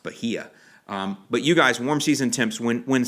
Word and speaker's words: Bahia: Augustine grass centipede zojja and Bahia that's an pronouncing along it's supposed to be pronounced Bahia but you guys warm season temps when when